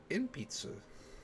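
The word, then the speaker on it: 鉛筆: 鉛筆 Inpitsu.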